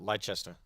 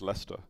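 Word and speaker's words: Leicester: I've heard that in not leester right no no you fell for the Trap leester like so it's it's just Lester Lester okay that was I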